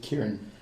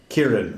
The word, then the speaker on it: Kieran: Kieran. Kieran, right. It's like Karen.